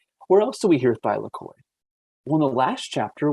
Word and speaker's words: thylakoid: that photosynthesis can occur it's thylakoid not cycloid not flucoida it's thylakoid and remember i said